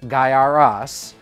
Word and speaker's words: Gaiares: hands right now and how do you say it guy aries guyaris guy air ease let me know down in the comments how you pronounce it it is guyaras uh and we are